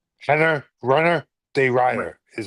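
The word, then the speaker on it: de Ridder: Henner, Runner de Rider is how you say Renner it.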